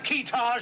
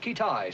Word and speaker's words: Kitaj: Have we located this fella Kitaj yet? Pronounced Kitai, sir.